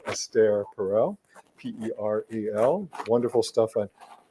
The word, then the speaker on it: Esther: helpful oh people like esther perel a psychoanalyst who talks about relationships and talks about what makes relationships work she's wonderful if you don't know i think she's actually pronounces her name astaire perel p-e-r-e-l wonderful stuff